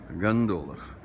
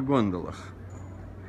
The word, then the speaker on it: гондола: вечером в театр на гондолах. Что бы не сказать на гондолах. То есть по-итальянски, конечно, гондола, но по-русски гондола, потому что должно сохраняться ударение в том же месте, где в слове гондон.